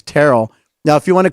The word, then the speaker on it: Terrell: And he had to correct me and say, it's Terrell. Now, if you want to correct me on the pronunciation of first names, Chris, if you'd like to, reprimand me for yesterday.